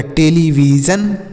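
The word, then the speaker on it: television: ई की मात्रा और हमने बता कि एस आई ओ एन को क्या पढ़ना है एस आई ओ एन को जन पढ़ना है तो यहां पर सीधे लिख देंगे जन तो ये हो गया टेलीविजन देख रहे हैं कितना आसान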